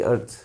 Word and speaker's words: erg: है अर्ज, ठीक है, ERG अर्ज। कुछ लोग अलग नाम से प्रोनाउंस कर सकते हैं पर अर्ज बोलते हैं।